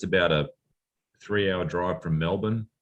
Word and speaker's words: Melbourne: I think it's about a 3-hour drive from Melbourne. They pronounce it Melbourne, not Melbourne.